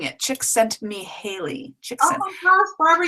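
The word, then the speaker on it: Csikszentmihalyi: it's o yeah it's yes um oh she pronouncing it chick sent me Haley chick oh my gosh Barbara you've just changed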